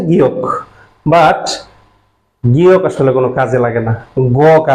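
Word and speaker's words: 기역: এখন আমি একটু আগেই বলেছিলাম ক্লাসের শুরুতেই যে স্যার, আপনারা অনেকেই আছেন এটাকে গিয়ক পড়েছেন। গিয়ক অ্যাকচুয়াল উচ্চারণটা হচ্ছে গিয়ক, বাট গিয়ক আসলে কোনো কাজে লাগে না, গ কাজে লাগে।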